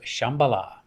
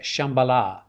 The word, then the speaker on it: Shambhala: you pronounce i said shambhala it's just got an h in there however i just keep it safe and pronounce it within my american uh english knowledge i would just say shambhala shambala yeah okay i don't want